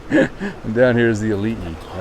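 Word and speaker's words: aliʻi: Elite spelled A-L-I-I. Elite. Whenever you see an I, it's always pronounced E. And whenever you see an E, it's pronounced with an I.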